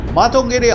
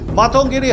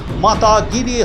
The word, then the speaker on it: মাতঙ্গিনী: এর আগে সংসদে দাঁড়িয়ে বিজেপির সাংসদ দিনেশ শর্মা মাতঙ্গিনী হাজরার নাম ভুল উচ্চারণ করেন। মাতা গিরি হাজরা বলে উচ্চারণ করে বাঙালি আবেগে ধাক্কা দেন।